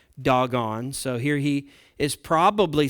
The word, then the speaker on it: Dagon: You know, gods like Dagon, as some pronounce it. I told you in Hebrew it's actually pronounced doggone.